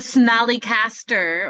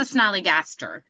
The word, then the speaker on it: Snallygaster: The Snallycaster, or is it the Snallygaster? I can't see it. I think it's the Snallygaster. No. Yes. I was saying yes for that's how you say it.